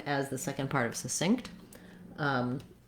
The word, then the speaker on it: succinct: So I would build from synced as you say this word, synced, succinct.